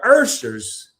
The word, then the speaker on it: ushers: we ain't been pronouncing this word right, even though the people that watch the replay and the people here now may not see that invisible R, but the Urshers, not the ushers, the Urshers used to do that.